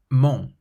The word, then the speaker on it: mon: Your throat still closes and the sound has to come out through your nose. Bon, bon, meaning good, bon. Non, non, which means no, non. Mon, mon, means my, mon.